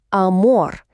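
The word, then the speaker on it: amor: Голосна прямо перед ар - це о. Тому ми читаємо амор. Наголос падає на останній склад.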